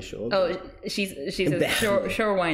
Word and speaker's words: Berlin: Berlin?